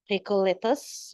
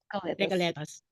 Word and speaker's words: Recoletos: degree in Business Administration from San Bastian College, Recoletos, Manila. Is it pronounced correct? Recoletos or Recoleto, Ms. Lourdes? Yes, yeah. Recoletos.